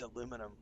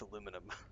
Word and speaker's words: aluminum: literally never said dude it's spelled the American version it's aluminum because I saw the last two having in aluminium and I was like, "Oh, it's aluminium." But no, kids, it's aluminum.